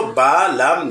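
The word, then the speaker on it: بَلَى: আর এই অতিরিক্ত হরফগুলা শুধু লিখার ক্ষেত্রে ব্যবহৃত হয় কিন্তু পড়ার ক্ষেত্রে ব্যবহৃত হয় না।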